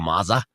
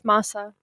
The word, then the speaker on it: masa: already be full of maza. That I'll be. It's masa. I don't think it's maza. Masa. That's the way that you pronounce it, gringo.